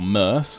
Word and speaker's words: Mercia: Oh, hello, Mercia. Or Merce, as I believe the pronunciation guide suggests.